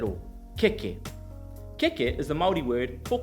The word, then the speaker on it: keke: dramatically in this example: Keke, k-e-k-e, can you say to me keke with no macrons at all. Keke Keke is the Māori word